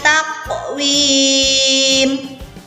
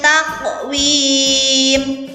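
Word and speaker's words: تقويم: Selanjutnya ada taqwim, qalqalah sughra. Lagi-lagi qalqalah sughra sama dengan lafal khalaqna. Jadi cara membacanya untuk ayat yang keempat secara lengkap adalah laqad khalaqnal insana fi ahsani taqwim.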